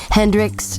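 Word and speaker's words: Hendricks: The Artist is Christine Hendrick and Christine is spelled with a k k r i s t i n e Hendrix just like it sounds h e n d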